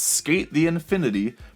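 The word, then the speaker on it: SK8 the Infinity: And for the record, it's abbreviated as SK Infinity Sign. So, yeah, trying to be really cool here. And like when it's spelled out, it's SK8 rather than skate.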